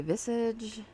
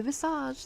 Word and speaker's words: Visage: My friend Dawn is participating from the Crafty Visage. And I said it right, Dawn. I didn't say Visage like I want to. It's Visage. That's the way she pronounces it.